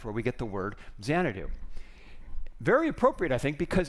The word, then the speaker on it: Xanadu: in case you're wondering zanadu was the English way of pronouncing changu which was the place in China where KublaCon had this Palace so that's where we get the word zanadu very appropriate I think